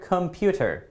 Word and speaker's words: computer: Okay, let's take a look at our next word, computer, computer.